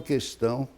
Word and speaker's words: questão: A palavra questão não deve ter o U proferido, mas muita gente profere o U.